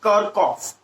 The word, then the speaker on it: Kirchhoff: current electricity as well, the actual pronunciation of this word is Kirchhoff.